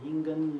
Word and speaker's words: Ingen: But however, the monk I study called Yin-Yuan, or Ingen Luki, right? That's his Japanese pronunciation, went to Japan in 1654 and founded a tradition in Japan called Obaku.